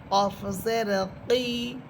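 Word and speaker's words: ق: এরপরে হরফ কফ, জিহ্বার গোড়া উপরে তালুর সাথে লাগবে, কফ। কফসের কি, কফসের কি।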